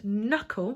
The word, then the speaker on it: knuckle: I'm going to add knuckle which is our second word to our n here brilliant not getting obviously the silent K that goes a start and then I want